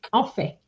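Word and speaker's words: en fait: When you want to say in fact you're going to say onet sorry otherwise it sounds like we do.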